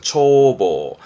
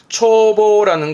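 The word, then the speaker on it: 眺望: 예 희망의 망짝이도 하죠 조망이라 발음은 초보입니다 초보 초보라는 건 조망 그러니까 멀리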